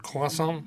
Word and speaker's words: croissant: Hay que pronunciarlo en francés, el croissant.